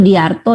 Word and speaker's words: Sudijarto: Koni, ada bacanya tuh Sudiarto ya, Prof. Sudiarto, yang spelling ejaannya Sudijarto memang beliau.